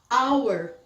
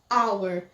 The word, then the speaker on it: hour: são pronunciadas dessa forma por exemplo aqui a gente não pronuncia fica hour hour aqui também honest homem